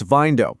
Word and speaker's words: Vindo: And that's Vindo, pronounced just like Window.